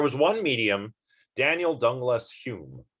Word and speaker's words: Home: was caught cheating uh home was or rather hume was never caught cheating